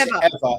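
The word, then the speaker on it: Eavor: is that ever well they pronounce ever e a v o r e a v o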